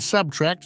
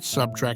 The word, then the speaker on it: subtract: say nuclear not nucle and subtract not subtrack as he scolded her